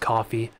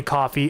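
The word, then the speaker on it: Ko-fi: I did also fire up the coffee, I believe it's pronounced coffee account for Puget Sound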